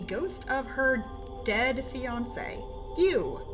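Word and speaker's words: Yuu: You. Not you. Because his name is spelled Y-U-U, because we can't have nice things.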